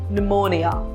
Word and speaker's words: pneumonia: P is sometimes not pronounced when it is in a combination of PS, PT or PN. For example, pneumonia or psalm.